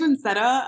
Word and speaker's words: Vincetta: So Yeah, yeah, like now I'm like, yeah, my name's Vincetta.